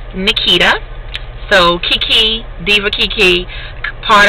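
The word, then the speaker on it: Neketa: what is my name my name is Nikita um a lot of people don't know how to spell it because my mom spelled it a little different she spelled it n-e-k-e-t-a so that's my name Nikita so Kiki Diva Kiki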